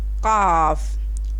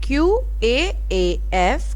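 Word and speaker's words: قاف: Qaf, qaf. Qaf, QAAF, qaf.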